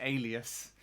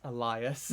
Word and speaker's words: Elias: That's how Leanne fucking pronounces alias. It's Elias.